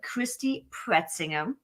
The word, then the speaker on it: Christy Pretzinger: And today I want to introduce you to Christy Pretzinger. I don't even know if you pronounce that way in English. That's how we pronounce it in German. It's right.